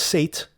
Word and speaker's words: Seth: the Yiddish Seth means it's pronounced Sate as in satiating or satisfying but the Egyptian god